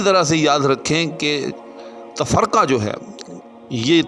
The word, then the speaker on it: تفرقہ: جو ہم کہتے ہیں اس کا درست تلفظ جو ہے وہ تفرقہ ہے، یعنی فاعل۔ جی ہاں، یعنی بالعموم اس کو تفرقہ فعول کے وزن پر بولا جاتا ہے، تو ایسا نہیں ہے، بلکہ تفرقہ فاعل، تفرقہ علم۔ تو جب بھی لفظ تفرقہ کو کہیں باندھیں شاعری کے اندر یا ویسے گفتگو کے اندر اس کو بولیں تو اس کو اپنے فاعل کے وزن پہ جو ہے وہ بولنا اور لکھنا ہے۔ اب دلیل کے طور